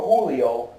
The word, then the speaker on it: Julio: Is it Julio or Julio? I'm pretty sure it's Julio. It's Julio. Okay. Yeah, I think it's Julio. It's a hard. The American pronunciation. It's a hard J.